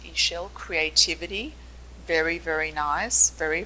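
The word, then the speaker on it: Ixchel: Ishel, pronounced Ishel, creativity.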